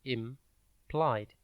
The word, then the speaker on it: implied: It is pronounced implied and spelt I-M-P-L-I-E-D. Think imp and then lied.